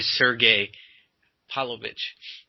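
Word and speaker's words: Sergei Pavlovich: And also the boy Sergey Pavlovich. Is that how you pronounce it? Yes.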